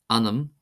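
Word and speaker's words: ainm: Anam. Anam. Anm. Anam. Anam meaning name. This is pronounced as if it were spelled a i n i m.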